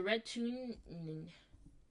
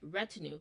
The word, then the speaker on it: retinue: So, red tune. Let me see what how it's pronounced. I'm going full Kai here. Retin. All right. Your girl was not pronouncing it right. Retinue.